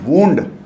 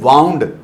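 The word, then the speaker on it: wound: इसको बोलते हैं वुंड और इसको बोलते हैं वाउंड।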